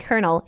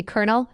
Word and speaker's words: colonel: The military rank colonel is one of the most uniquely pronounced words in English. It is pronounced identically to colonel, meaning it rhymes perfectly with the word journal